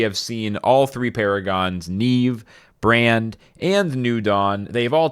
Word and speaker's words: Niamh: uh this out of the way yes it's pronounced Neeve it's spelled n i a MH I don't know I don't know why don't ask me it's not my fault but this is Neeve just to be crystal clear in case anyone's